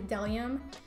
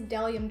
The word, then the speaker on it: Bdellium: medallion tools I mean I always called bdellium but it's actually DeLeon it is spelled like a B D so I just want to say Battalion but it is DeLeon tools so this shade is